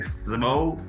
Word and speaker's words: Szabo: And where we'd like to start is in 1997, Nick Szabo, is that how you pronounce that name? Nick Szabo?